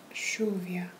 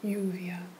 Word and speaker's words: lluvia: Yes, so the double L and the Y. So for lluvia, which we spell like this, you'll say it lluvia. Yes, instead of lluvia.